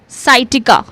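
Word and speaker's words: sciatica: Then we have साइटिका। साइटिका। साइटिका में क्या कर रहे हैं?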